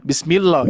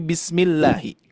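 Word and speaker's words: بسم الله: Nah ya jangan sampai kita membaca Bismillahi bismillah jangan sampai bismillah ya tapi Bismillahi Nah kalau bismillah ya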